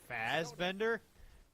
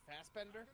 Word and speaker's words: Fassbender: just did you say Fastbender did I say it wrong it's fast but they're like fast without the T it's not Faz like Fazbear okay Fastbender yeah okay but yeah